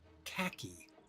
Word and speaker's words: khaki: Midnight Ice, Wintergreen, and Khaki. Which rhymes with tacky, and that color combo kind of is.